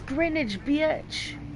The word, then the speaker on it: Greenwich: will help House of Greenwich that's Greenwich rhymes with spinach ain't nothing in that